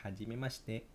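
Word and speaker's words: はじめまして: kalau kampret gitulah Hai Oke selanjutnya Haji ini bacanya hajimimaste aquades terus yoroshiku onegaishimasu yoroshiku onegaishimasu sini yoroshiku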